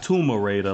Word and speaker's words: Tomb Raider: You got Gears 4 and the Ultimate Edition of Gears, Forza, Tomb Raider, not Tomb Raider like some people pronounce in their videos.